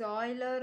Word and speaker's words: Euler: it can be composed into circuits so the pronounciation is oiler or your graph whatever it is just ignore